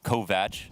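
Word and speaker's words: Kovač: two things about that number one kovach it's apparently the correct way to say it and also that uh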